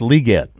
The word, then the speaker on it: Legette: I said Lieette. It's pronounced Lieette.